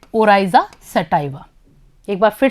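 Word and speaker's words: Oryza sativa: चावल का वैज्ञानिक नाम है ओराइजा सटाइवा। एक बार फिर से दोहराएंगे, ओराइजा सटाइवा।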